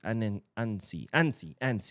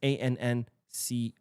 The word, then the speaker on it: Annecy: Annecy. I think that's how you say it. It's Annecey. Annecy. No, Annecy. Annecy.